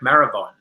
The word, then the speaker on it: Marabon: Now I keep thinking in my head, rhymes with marathon. Derek Marabon. I got it right this time.